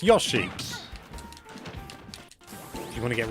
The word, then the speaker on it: Yoshi: And yes, some people are making fun of the way that I pronounce Yoshi. If you want to get really picky, it's technically closer to the Japanese pronunciation to say Yoshi.